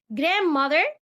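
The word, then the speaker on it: grandmother: جران جراند ماذ سوري جراند ماذ جراند فاذ خلي بالك ان حرف الدي مش بيتنطق ماذ فذ انكل انكل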